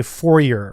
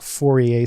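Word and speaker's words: Fourier: 4A series and know you're attempted to say forer right but you can say forer if you want but I'm pretty sure it's pronounced fora series and by the way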